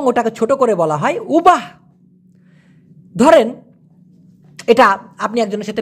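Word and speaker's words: ubah: ইয়েস ভাইজান, উবাটা হচ্ছে Malaysian শব্দ, কিন্তু একটু আগে যেমনটা বললাম শব্দের শেষের যে অক্ষরটা ওরা প্রায় সময় অস্পষ্ট করে উচ্চারণ করে বিধায় এই উবাহ, দেখেন উচ্চারণটা শুনেন তো একবার, একটু নিজের মুখে উচ্চারণ করেন প্লিজ।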